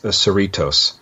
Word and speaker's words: Cerritos: sorry I said grace it's the USS Cerritos so that's that's how you say it and it looks we